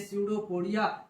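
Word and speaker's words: pseudopodia: कहते है सूडो कोडिया कहा जाता है पीछे स्पेलिंग स्टार्ट होती है सूडो पोडिया सूडो पोडिया कहते हैं इसके बाद क्या करता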